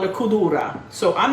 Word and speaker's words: Cudura: Cudura is spelled C-U-D-U-R-A. But sometimes when you hear an old Sicilian say it, almost sounds like Gudura with a G, but it's a C.